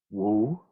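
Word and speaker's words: 無: with the character Wu, which is more or less the Mandarin pronunciation, or Mu, if you are a student of Zen in either the Korean or Japanese traditions, you're probably more familiar with this character as Mu.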